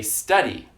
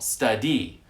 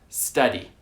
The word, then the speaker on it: study: For example, take the word study. We say study. We place the stress on the first syllable. We don't place the stress on the second syllable, study. That is incorrect. Study.